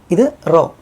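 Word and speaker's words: ρω: ഇതാണ് റോ; റോ, ഇത് 'റോ' എന്നാണ് ഉച്ചരിക്കുന്നത്. ഇത് ഇംഗ്ലീഷ് അക്ഷരം P ആണ്, പക്ഷേ അത് 'r' എന്നാണ് ഉച്ചരിക്കുന്നത്. ഉദാഹരണത്തിന് 'റോ'. 'റോഡ്' എന്നതിലെ 'r' , 'r' ശബ്ദം.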